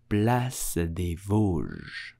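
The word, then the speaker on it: Place des Vosges: pronounce it correctly in French you will say blessed blessed please do not pronounce it place this not at all plus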